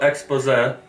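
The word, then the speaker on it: exposé: No właśnie w ogóle trzeba zauważyć że słowo expose No to akcentuje się na ostatnią sylabę bo to jest francuskiego języka z języka na takich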